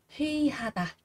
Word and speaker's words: 회의하다: ấy, đứng sau ạ, đứng sau một cái từ nào đó thì sẽ được đọc là y, nếu mà nó đứng trước thì sẽ đọc là ơi các bạn nhé.